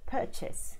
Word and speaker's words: purchase: So for English, in a standard accent, you want to be emphasizing the first syllable most of the time. This is a 2 syllable word. So words like purchase, so I'm buying something, I'm purchasing something, rather than I'm purchasing something.